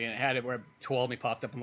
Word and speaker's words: Tuolumne: I'm like, oh, it's Tuolumne. Why can't? Oh, duh, because this isn't normal. Mm-hmm. Yeah, there was a video I did for somebody, and it had it where Tuolumne popped up.